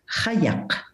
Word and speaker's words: qajaq: And the kayak, which I will pronounce kayak, is just one example of this, as you know.